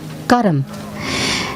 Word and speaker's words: karma: myself and my actions this word actually in hindi or in in sanskrit is pronounced karam and the literal translation